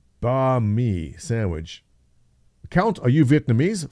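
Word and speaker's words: bánh mì: But to be clear, it's pronounced banh mi sandwich.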